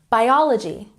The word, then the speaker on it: biology: Biology, stress the second syllable.